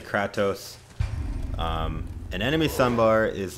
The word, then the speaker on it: Kratos: again so do i some people were saying it I was pronouncing his name wrong it should be Kratos some people say Kratos an enemy Sun bar